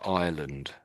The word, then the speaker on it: island: on a lake, you call it an island. Island. So it sounds very similar to that country next to England called Ireland.